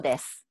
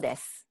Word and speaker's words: です: you, u sound because we don't pronounce that so strongly when you have it at the end. So I would say, Kyoko desu. Kyoko desu.